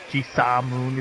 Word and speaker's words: Jisamoon: Like, because what happened was I played Jimoon and Jisamoon is how you say it, actually.